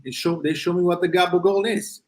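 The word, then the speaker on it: gabagool: They show me what the Gabagol is. It's capocollo in Italian. So someone came from Italy, said, I want the capocollo. Somebody else heard it, and it became Gabagol.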